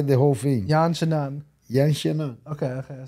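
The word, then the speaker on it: Yan Xiaonan: say say say the whole thing yan shanan yan shanan okay okay I said it right all right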